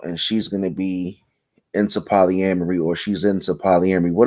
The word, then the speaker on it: polyamory: Okay, we're talking about Willow Smith, Red Table Talk, and how many syllables is it? Polyamory. It's 5 syllables. Polyamory.